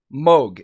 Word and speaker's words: Moog: say moog all the time it is 100 pronounced moog if there's anybody out there that has any